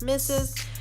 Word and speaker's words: m1zz3z: follow me on Instagram my handles M 1 ZZ 3z pronounced misses so be sure to